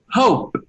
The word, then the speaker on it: hope: 90% of the times, that e is a mute e, mute. Mute is muda, mute. We say the e. So we say the last sound of that verb is p, p, hope.